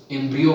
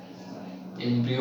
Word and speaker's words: embryo: एम्ब्रियो बनना। Sorry spelling क्या हो रहा है? एम्ब्रियो बनना, ठीक है। एम्ब्रायो नहीं, एम्ब्रियो, ठीक है।